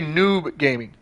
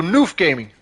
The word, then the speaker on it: Noof Gaming: Say noob gaming. Say noob. Noof. Oh, okay, so Noof Gaming.